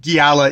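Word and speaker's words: Xiala: name which is uh it is spelled x i a l a which if i've been reading that on the page i probably would have come up with a entirely different uh pronunciation but giala is my best approximation of what my my uh my dumb monolingual uh uh mind took as what the how the narrator was narrating this so that did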